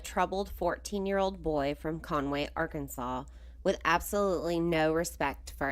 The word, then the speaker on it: Arkansas: The case involves a troubled 14-year-old boy from Conway, Arkansas, with absolutely no respect for anyone. Since we talked about Conway on the last episode, I decided to share some interesting facts about Arkansas.